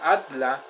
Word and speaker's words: Adler: a alfred at la que se escribe pero se pronuncia at la el conocimiento del hombre